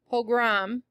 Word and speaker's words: pogrom: Pogrom.